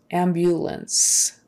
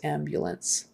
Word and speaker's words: ambulance: middle of the word there's a y sound before it ambulance ambulance okay let's see amnesia